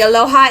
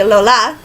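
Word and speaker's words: Alola: didn't say you pronounce I've been calling it the Aloha it's the ole ola um and clean when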